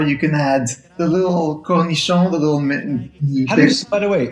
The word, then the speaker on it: cornichon: And then if you want, you can add capers or you can add the little cornichon, the little... By the way, how do you properly say that word? Cornichon.